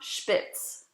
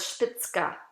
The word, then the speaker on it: Spitzka: again s-p-i-c-z-k-i-n her name was not spitz or stixx her name was spitzka it always had either